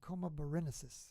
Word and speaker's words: Coma Berenices: looks like we're in coma berenices in this case some people say comaborenesis how do you say it coma berenices and looks like our